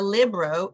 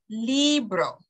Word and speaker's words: libro: words same thing here it's not a libero it's a Libro that's the E Libro and finally it's not